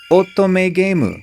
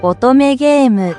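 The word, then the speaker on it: 乙女ゲーム: an otome game, or as they say in Japanese, otome gemu. And I'm not being racist, that's literally how they say it. Okay, look it up. otome gemu If you don't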